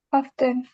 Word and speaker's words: often: Often. Aven. Yes, Alde, Oven. good. Berarti yang silent apa? T-nya. E-nya.